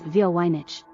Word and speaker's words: Voynich: technology and computational Analysis the manuscript's name is often pronounced as via wineich although variations exist despite the difficulties in